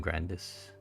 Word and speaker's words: Grandis: So the full name is Pluvium Grandis. I was thinking of whether or not to pronounce the S, but yeah, I pronounced the S.